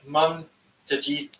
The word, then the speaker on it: Mamtagit: Okay, Mum Tajit. That's how you pronounce my name. Yupik. It's my hometown name, Yupik Town. Awesome. Mamtagit.